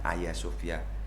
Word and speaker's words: Hagia Sophia: tahun ini apa ada tulisannya Hagia Sophia ya ada yang membacanya ayasofya tapi ini satu bangunan